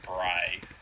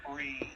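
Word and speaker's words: Brigh: I mean, I would say Bry. Yeah, it's either Bry or Bree, either way. Yeah. I like Bry. I can do Bry. Bry is probably how it actually is pronounced.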